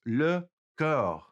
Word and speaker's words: le corps: Okay, now let's get the word for the body itself, and that is le corps.